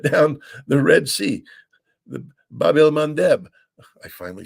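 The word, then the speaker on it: Bab el-Mandeb: the Bab el Mandeb.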